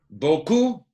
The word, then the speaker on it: beaucoup: Beaucoup is a very common word. Mucho, okay? Shows up all the time. Never, ever pronounce the P.